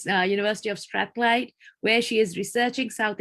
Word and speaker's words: Strathclyde: Lamia Sami is a final year PhD student at the University of, and Lamia, please, if you can pronounce this. it's Strathclyde. All right, University of Strathclyde, where she is researching South Asian fiction through